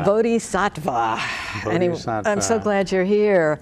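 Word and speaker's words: bodhisattva: Zen Center and a bodh zva teacher how did I do on that pronounce close bodh satva bodh satva I'm so glad you're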